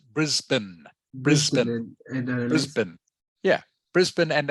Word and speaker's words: Brisbane: mean this one yes yeah okay it is pronounced Brisbane Brisbane Brisbane yeah Brisbane and Adelaide correct knock